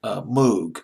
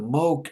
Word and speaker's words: Moog: he used an instrument as an old-school instrument Moog I believe is you pronounce the Mook I'll pronounces Moog it's pronounced as I think it smoked and German but it's Moog in English I'll pronounce this book em oo jeek Moog synthesiser